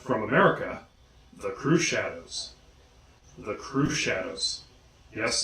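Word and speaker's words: Crüxshadows: America the crew shadows the crew shadows yes the umlaut over the you is purely for decoration if you were to pronounce it it would come out three shadows next we have one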